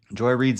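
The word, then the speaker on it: Joy Reid: I'd rather not but Joy Reed's name is pronounced Joy Reed that's that's what I thought so her show is the readout but it seems like she wanted it to be like the ride out but I guess readout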